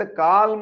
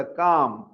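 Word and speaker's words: calm: CLM ಇದ್ದಂತ ಕಾಲ್ಮ್ ಅಂತ ಹೇಳುದಲ್ಲ, ಕಾಮ್, ಎಲ್ಲಿ ಸೈಲೆಂಟ್ ಓದಿದೆ.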